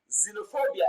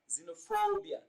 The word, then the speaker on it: xenophobia: result in a wrong placement of stress now xenophobia is pronounced as xenophobia and transcribed as seen on the screen so